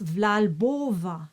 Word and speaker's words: V'là l'bon vent: still close the N simply practice vlalbova just practice that for a while to get out of the habit of pronouncing the n and the other option